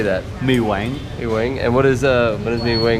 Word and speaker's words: Mì Quảng: Mì Quảng.